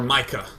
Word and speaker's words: Micah: Do you prefer Misha or Micah? I think Misha is how you say it if it's a German name. Micah is how you might say it in American.